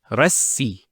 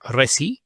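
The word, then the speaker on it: رَسّى: So if we put the ra once again, it would pronounce as rassi, rassi. Notice how I give emphasis to this scene. It's the doubling of the letter. Not rasi, rassi.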